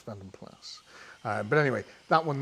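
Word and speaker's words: Vanden Plas: brain that plus it a lot of people over here pronounce it vandom PL because that's how they sort of sold them as they were trying it to be quite POS as vandom PL but it's not as vandom plus um but anyway that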